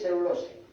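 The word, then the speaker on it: cellulosae: Se escribe cerulosae, se lee cerulosae.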